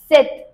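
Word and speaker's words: sept: 7, no. 7. P silent.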